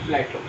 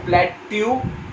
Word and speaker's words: plateau: This soil is mostly found in Maharashtra and Deccan Plateau. Remember, guys, this is not plateau, this is plateau. Just remember the pronunciation of this word.